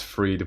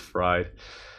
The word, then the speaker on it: Fried: you very much uh Robert says it's freed but now pronounced fried that's funny um you